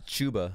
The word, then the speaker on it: Chuba: It's Chuba.